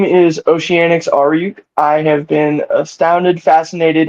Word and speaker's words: Aoriuk: Aoriuk. How you have it on your social media? Pronounce it for me. Oh, Aoriuk.